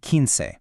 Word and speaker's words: quince: We've got once, think once, then doce, trece, catorce, and quince. That last one, quince, sounds like quince.